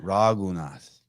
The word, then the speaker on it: Raghunath: Raghunath. Oh, I'm not even saying it right. Raghunath. I only listened to it 100 times before I came on yesterday. I still can't get it. Raghunath.